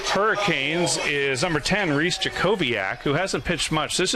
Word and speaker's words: Jacobiak: Reese Jackawalk. Jackawalk? I think it's Jacobiak. Jacobiak? Yeah. I think they put that in our pronunciation guide.